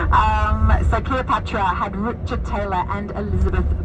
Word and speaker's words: Cleopatra: making the movie Cleopatra oh so cute how they say it to German I have to tell you it's cleopetra I always love that one um so Cleopatra had Richard Taylor and